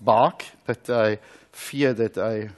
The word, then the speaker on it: BARC: I know that the laboratory is pronounced bark but I fear that I will not very well pronounce your name.